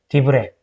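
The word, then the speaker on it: דברי: 얘 발음, 얘 장모음이죠. 왜죠? 디브레.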